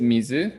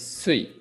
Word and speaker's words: 水: Okay, kunyomi is mizu, water. Onyomi is sui.